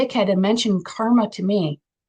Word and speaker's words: karma: __ ] and mention karma to me which is actually pronounced kerma like kermit the frog and i'm so [